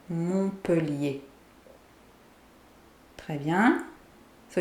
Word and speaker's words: Montpellier: Montpellier. Montpellier. So the T is silent here. Montpellier.